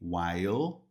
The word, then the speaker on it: while: Observa que termina com l e while. Ó, mas a pronúncia fica no Lá em cima com a língua lá em cima no céu da boca.